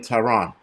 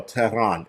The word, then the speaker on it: Tehran: Hundreds of protesters have reached outside of French UK embassies in Tehran, or Tehran, if you want to say it right.